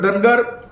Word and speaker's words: धानगड: कडाडून विरोध आहे कारण आपण जर पाहिलं तर धनगड सॉरी धानगड नावाची एक जमात महाराष्ट्र मधून इतर